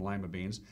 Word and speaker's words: lima bean: fiber potassium iron yeah lima beans are actually named after lima peru but we pronounced them lima beans they've been cultivating lima